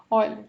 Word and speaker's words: Euler: Teorema de Euler, que na verdade a gente fala de Euler, tá? Teorema de Euler. É um nome é nome próprio, né? Se pronuncia Euler, tá?